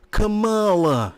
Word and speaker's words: Kamala: She said her name wrong. It's Kamala.